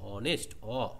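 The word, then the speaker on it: honest: এই নাউনের জন্য বসলেও অনেস্ট এর অচ্চারণটা হচ্ছে অনেস্ট অয়েল উচ্চারণ হচ্ছে সেজন্য এখানে অ্যান অনেস্ট পার্সন হবে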